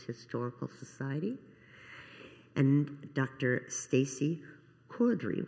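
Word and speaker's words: Cordery: Stacy Cordry, which I understand is a British way to pronounce it, and she is the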